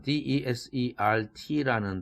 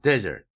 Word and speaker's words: desert: 예를 들어 desert라는 D-E-S-E-R-T라는 단어는 첫 음절을 세게 발음할 때와 두 번째 음절 zert를 세게 발음할 때의 뜻이 달라지는 것이죠. 첫 음절에 강세를 두면 예를 들면 desert 이렇게 발음하면 이것은 명사로 쓰이거나 형용사로 쓰인 뜻입니다. 명사로서는 사막이라는 뜻이고 형용사로 쓰면 황폐한이라는 뜻을 나타냅니다. 그러나 두 번째 음절을 강세를 두면 desert, 뒤쪽에 강세를 두면 동사로서 버린다, 방치한다, 버리고 떠난다 이런 뜻이 됩니다.